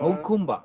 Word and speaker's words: Jacumba: Okumba. That's how you say it. Jacumba.